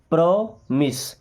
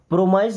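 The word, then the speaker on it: promise: Then प्रोमिस। प्रोमाइज नहीं पढ़ना है। प्रॉमिस क्या? प्रोमाइस नहीं। प्रॉमिस। देखिए प्रो मिस। कुछ लोग इसको प्रॉमिस बोलते हैं। प्रॉमिस नहीं प्रॉमिस होता है।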